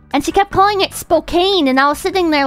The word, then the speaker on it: Spokane: And she kept calling it Spokane, and I was sitting there like... It's not... It's not pronounced Spokane.